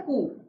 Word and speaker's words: coup: i was mispronouncing earlier here p is silent this is called a poo that's how it is